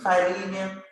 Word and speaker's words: Philemon: Did I pronounce it right? What did you say about that? The last book, it is Philemon.